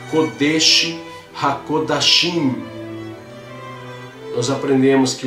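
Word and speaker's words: קודש הקודשים: Então você vai pronunciar Kodesh HaKodashim.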